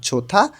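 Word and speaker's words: 좋다: নালসিগা আবহাওয়া ঝোথা ভালো হিউত বাচ্চিমের পরে যখন দিউত আসে তখন এই দ টা থ এর মতন উচ্চারণ হবে তাহলে নালসিগা আবহাওয়া জোথা ভালো নালসিগা আবহাওয়া নাপুদা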